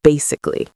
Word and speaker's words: basically: So how do we pronounce basically? So I've written it out here how I would say it. Bay is the first part, and that's where the stress is. So we say bay, louder and longer.